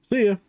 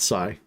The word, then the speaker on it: Sia: Sia, is that how you say it? My wife said Sia. Sia. Not Psy.